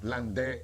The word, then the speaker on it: Landais: landais quien dijo textualmente Land porque es un apellido francés se escribe landais pero el a se pronuncia e el Bongo ahí aprenda